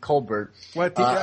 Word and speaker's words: Colbert: uh Steven coar on I guess she pronounces it Colbert stear on Comedy Central